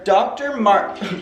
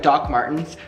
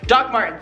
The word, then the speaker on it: Doc Martens: They are Dr. Martin. Did I say Dr. Martin? Wait, how do you pronounce it? It's like Doc Martens. Doc Martens, there we go.